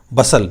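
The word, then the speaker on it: bustle: करना a great Bastar बसल बी यू एस टी ल आई T silent है इसके अंदर तो ए ग्रेट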